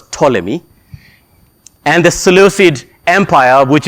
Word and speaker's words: Ptolemy: The Egyptian kingdom of the Ptolemies, which is pronounced with a P that starts. It's Ptolemy, but it's pronounced as Ptolemy.